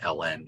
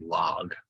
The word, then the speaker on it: ln: We don't normally pronounce it ln either. It's understood. You just say the word log.